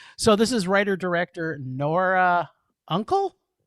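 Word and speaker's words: Unkel: So this is writer-director Nora Uncle? Looks like Uncle to me. Uncle, but it's spelled different than your uncle.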